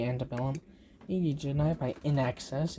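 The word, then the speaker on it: INXS: Need You Tonight by In Excess. Yes, that's how you pronounce it.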